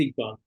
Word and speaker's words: Iqbal: the question from the photographer, how do you pronounce the name of the photographer? Iqbal? Yes, it's Iqbal.